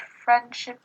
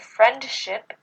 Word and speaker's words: friendship: Whenever T or D comes between two consonants at the end of a syllable, it gets elided, which means that it doesn't get pronounced. For example, instead of scripts, we say scripts. And instead of friendship, we say friendship.